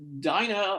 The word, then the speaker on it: Dinah: portion if we're looking at the narrative uh dinah or dina depending on how you want to pronounce it i looked up and some people